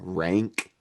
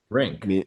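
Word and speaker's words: Rienk: Which by the way, insane name, Rank. Rink When I think of Rank, I think of like stinky. No, it's like rink, ice rink. Oh, is it rink?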